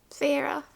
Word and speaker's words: Feyre: Okay, this is how I'm supposed to pronounce the name. Feyre. Okay, so we got Feyre, who I actually really like the tension between Feyre and Rhysand.